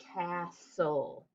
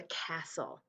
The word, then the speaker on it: castle: cross it off and not just the e is silent but the t is silent too because we say castle right you don't hear the t we don't say castle it's a castle i want to build